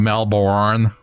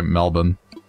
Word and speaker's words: Melbourne: Like instead of saying Melbourne, we say Melbourne.